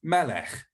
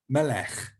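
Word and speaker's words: מלך: is this um and that is pronounced like in scottish loch it's a good sound in scottish it's in welsh it's in lots of languages like german and things as well and it's also in hebrew so that's you can see the word for king is melech melech with the sound at the end so whenever you see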